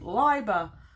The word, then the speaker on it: Leiber: conversation about Fritz and after having pronounced his name Libra for my whole life I'm told that apparently I'm meant to pronounce it Liber but this information comes